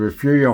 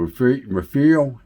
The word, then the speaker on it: Refugio: Down below, these are the arched windows that came out of the Refugio High School, Refugio, Texas. And that's spelled like totally different than it sounds.